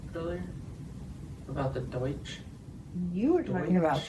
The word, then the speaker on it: Deutsch: Deutsch is how you say it, but Yeah, so Pennsylvania Deutsch.